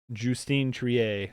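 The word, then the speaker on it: Justine Triet: happy with any of them winning but uh jtine Trier that's how you say her name so I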